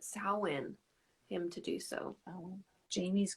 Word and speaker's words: Samhain: be back in scotland on samhain that's how you pronounce it samhain him to do so